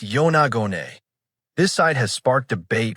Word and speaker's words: Yonaguni: Pronounced Yonagone, this site has sparked debate for decades.